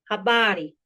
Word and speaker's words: habari: The stress in kisuahiti always falls on the second to last syllable. There are very few exceptions to this rule. So you automatically know where to put the stress. For example, we have habari. Habari.